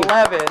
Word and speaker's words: Levin: Corey Levin. Our final show before hiatus. Not Levine. Corey. So Sam Levine, Corey Levin, yes.